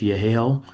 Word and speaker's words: Yehiel: I do pronounce it as Yahel.